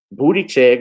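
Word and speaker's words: Buttigieg: damn sure wasn't going to win the presidency booty check wasn't going to win the presidency yeah i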